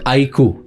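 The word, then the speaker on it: iQOO: So IQ, this is how you pronounce it.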